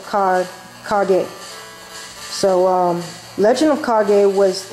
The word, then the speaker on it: Kage: As a kid, I used to pronounce this Legend of Cage, but no, it's Legend of Kage.